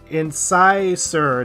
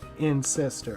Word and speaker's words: incisor: Incisor, not incestor.